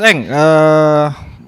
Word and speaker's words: Aang: Yang penulisannya Aang sebetulnya, tapi bacanya Eng gitu.